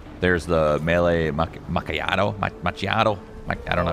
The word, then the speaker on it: macchiato: the speed cola there's the melee Mak macato machiato I don't know how to pronounce that macchiato that's right oh is this a Val oh